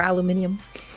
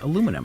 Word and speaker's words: aluminium: minute to put the pieces together um or aluminium isn't he from the uk yeah exactly aluminium just add extra letters in there for the fun of it no no no just rearrange how you pronounce aluminum it's the same no no look at it